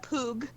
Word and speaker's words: Pugh: Chani is Marcia Poog. And Tradasting? It's spelled P-U-G-H.